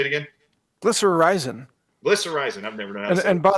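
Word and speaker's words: glycyrrhizin: inhibitor glycerism how do you say that Mike glycerizin it comes from licorice root that's exactly right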